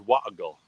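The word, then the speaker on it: Warragul: Oh, but they don't pronounce the R, so it's Warrigal.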